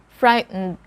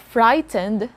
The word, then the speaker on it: frightened: african literature someday 18 frightened frightened so it's not frightened you can have the letter e there a silent letter e for example sentence she